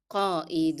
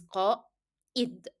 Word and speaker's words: قائد: So when you have this hamza that comes in the middle of the word, you pronounce the glottal stop, the sound of the glottal stop first, and then you make the mark. So it is قائد قائد الفريق.